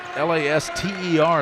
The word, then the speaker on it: Laster: rebounds here the second half frito connected by Laster patience laughter you have a her last name is la st ER they say it's pronounced Laster placer yep 38 to 30 Gary